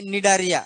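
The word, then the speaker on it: Cnidaria: तर कोलियन राटा आणि इकडे जे आहे काय आपला निडारिया सी सायलेंट आहे सी एन आहे बरेचश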